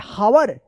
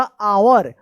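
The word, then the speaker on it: hour: एच ओ यू आर हावर नहीं ये गलत है। यहां पे जो है ना एच साइलेंट रहता है। इसका उच्चारण होगा आवर।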